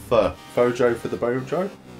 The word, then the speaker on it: pho: What is a foe? Joe. Stop laughing, I'm sorry, man. What's a foe, Joe? It's pronounced fur.